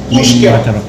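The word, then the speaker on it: uisge beatha: Ushi beta. Ushi beta. That's how it pronounced.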